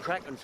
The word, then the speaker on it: Kraken: no no Croc's are it's pronounced in the original Scandinavian and krak's closer to that well we ain't original